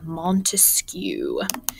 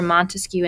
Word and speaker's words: Montesquieu: best way to remember montesquieu and three branches of government he's the guy with the longest name the only one with a three-syllable name so montesquieu for three branches of